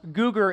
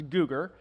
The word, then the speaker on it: Googer: Now, the freshman and sophomore Hans, Googer is how you pronounce my last name. For those of you who just look at it and never want to pronounce it, it's Googer.